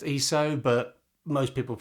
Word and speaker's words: ISO: next place to start is with iso actually pronounced eso but most people say iso so we'll go